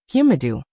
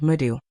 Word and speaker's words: Madu: Mom's pronunciation is not good. It's a lot off. Yang Yi said impartially, come repeat it after me. Ho-ho, uvulatory sound, Madu.